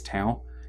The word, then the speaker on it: Tao: It can be spelled and or pronounced as Tao. It depends on which character you're using. Yes, if you're using it as the Taoist, then go for it. Yeah, that's one of the things that that Ben and I have talked about before. It's like if you have basically have in the actual Chinese, how you would spell that one would be with the D sound.